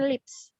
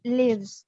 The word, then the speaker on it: lives: Nah, ada juga beberapa kalian yang menyebutkan ini lips. Kalau misalkan pronounce-nya lips, itu bibir artinya. Bukan live. Jadi lives, bukan lips.